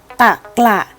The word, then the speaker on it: ตะกละ: แบบ เต็ม เสียง เช่น คำ ว่า ตะกละ อ่าน ว่า ตะกระ คำ ว่า กระ จะ เป็น พยางค์ ท้าย เพราะ ฉะนั้น เรา จะ ออก อย่าง เต็ม เสียง ค่ะ ธรรมะ อ่าน ว่า ธรรมะ